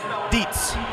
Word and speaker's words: Dietz: In lane 5 is McMaster University's Brian, it sounds just like it's spelt, Dietz.